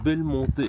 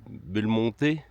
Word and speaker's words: Belmonte: de Belmonte. Ça doit se prononcer comme ça, car en espagnol, on prononce toutes les lettres.